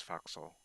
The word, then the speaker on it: forecastle: And foxhole is spelled forecastle, and some people pronounce it that way, but kind of the old-timey way to pronounce it was foxhole.